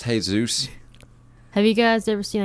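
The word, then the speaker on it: Jesús: Drew like okay Jesus it's pronounced hey Zeus have you guys ever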